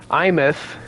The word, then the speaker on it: Aemeath: We're going to be talking about Aemeath, as I've finally learned how to pronounce her name.